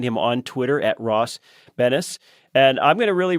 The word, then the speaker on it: Benes: our guest today is ross banish but it's spelled just b-e-n-e-s so you can find him on twitter at ross bennis and i'm going to